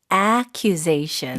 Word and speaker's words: accusation: 근데 accusation이 아니라 발음이 좀 달랐던 것 같아요. accusation. 네, 맞아요. 동사는 accuse. 근데 명사는 accusation. 네. 네, 발음이 살짝 달라져요.